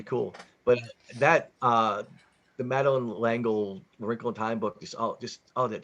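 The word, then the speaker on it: L'Engle: Madeline L'Angle, or however you say her name, That's Yeah. right. That sounds right. with an L apostrophe Engel.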